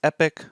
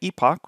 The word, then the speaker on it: epoch: a specific word, and depending if you pronounce it the American way, which is epic, or the British way, epoch, which is the way I pronounce it, essentially one epoch is